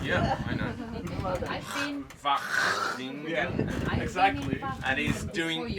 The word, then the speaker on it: Wageningen: And Good pronunciation. yeah, I know. I've been. Wageningen.